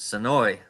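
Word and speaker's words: Senoia: Soya, but down here we pronounce it Soi, but it's spelled Soya.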